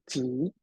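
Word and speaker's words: 集: Chinese character that it's pronounced in Mandarin as Ji.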